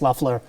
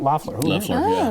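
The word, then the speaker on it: Loeffler: were listening ads against luffler um and uh purdue i actually learned learned how to pronounce her name it's luffler not loffler because i heard her say her name on the radio but um and then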